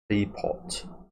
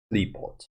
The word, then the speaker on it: Qliphoth: It's definitely Klee. What is off? Off? Is it like a silent H or no? We'll see if we can Google it quickly just before we get in. How to pronounce the... Okay, it's one of the first results that come up. What the fuck is this? Qliphoth. So it's apparently a silent H, it looks like.